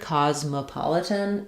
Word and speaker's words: Cosmopolitan: But when we say it in the full word, Cosmopolitan, there's no stress on that one. So it's actually a schwa, an sound. So that sounds like Cosmopolitan.